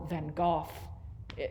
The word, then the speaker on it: van Gogh: vincent van gogh painting or van gogh that's actually the correct pronunciation but i won't say